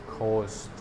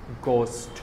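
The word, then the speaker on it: ghost: নাই আমি কি কব জি এইচ ও এস টি ঘোস্ট ঘোস্ট ঘোস্ট কবা কি কবা ঘোস্ট অহমিয়া অথবা হিন্দি সাউন্ড বিলা কবা যেনেকে খুলি সোনাই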